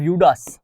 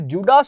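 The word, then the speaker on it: Judas: देखो ये किताब थी द गॉस्पल ऑफ यूडास, ये जूडास होता है एक्चुअली, इसको प्रोनाउंसिएशन इन्होंने यूडास कर दिया है, द गॉस्पल ऑफ यूडास, ठीक है।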